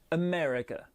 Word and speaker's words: America: accentuée ça donnera japan pour l'amérique par contre c'est la deuxième syllabe qui est accentuée et safra américain america vous remarqué une chose